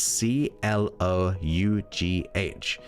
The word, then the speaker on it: Clough: You got multiple ways of saying it, but it is tough, but it's Clough, CLOUGH.